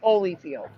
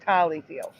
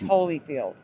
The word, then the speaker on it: Holyfield: hollyfield even though again it was only ever pronounced Holyfield I'm not saying it was pronounced hollyfield never pronounced hollyfield I just always saw